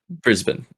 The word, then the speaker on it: Brisbane: Brisbane? Brisbane, yeah.